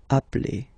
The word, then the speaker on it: appelle: You tend to pronounce it like a, really open.